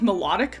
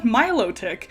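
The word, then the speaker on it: Milotic: I I called it melodic my entire life. And then I played the game, the new Pokemon Snap game, and they call it Miloick.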